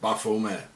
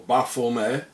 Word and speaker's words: Baphomet: Therefore the name should be pronounced without the T at the end. As the early Templars were French, and in French the T at the end is not pronounced, coming to the exact pronunciation in Demotic.